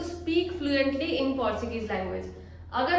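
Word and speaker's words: sim: सी C means yes. Okay, सी मतलब हाँ, yes. Hindi में भी इसका उच्चारण लिखा हुआ है सी विद अ नेजल साउंड।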